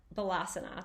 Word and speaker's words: Balasana: Today we're exploring many people's favorite resting pose, child's pose, or Balasana.